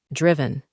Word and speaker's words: driven: Ahí, en la pronunciación, intentaremos eliminar la E para que suene así, driven.